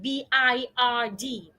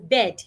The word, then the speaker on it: bird: So some of us we pronounce b i r d as bid, no. The one that flies, it is not bed. The i and the r there makes the er sound.